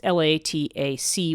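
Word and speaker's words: latać: to say this right, latat, I'm not sure how that C is pronounced, which means to fly. It's Latac with an accent on the C.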